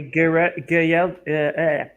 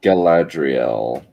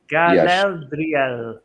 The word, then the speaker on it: Galadriel: Yeah, but still, it didn't So- feel like a Garel. Galadriel. Galadriel. There you go. Galadriel. There you go. I cannot pronounce this properly, but Galadriel.